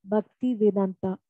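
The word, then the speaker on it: Bhaktivedanta: He said, Swamiji Bhakti Vedanta.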